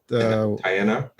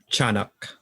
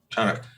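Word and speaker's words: Tiyanak: Oh yeah, Tianak. Tianak. Yeah. Okay. It's like cha instead of tia. Oh yeah, I'm gonna pronounce it properly here. So Chanak. Yeah. Chanak.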